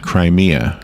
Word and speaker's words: Crimea: awful the crisis in crimeia which by the way I was told it's pronounced Crimea uh-huh Crimea like Crimea River uh-huh is that wrong